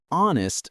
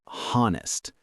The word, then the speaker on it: honest: The H is silent. We say honest, not honest.